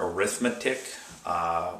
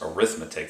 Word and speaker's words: arithmetic: sequence is it does look like the word arithmetic whenever it's used as an adjective it's not pronounced pronounced as arithmetic it's pronounced as arithmetic so I describe to you what an arithmetic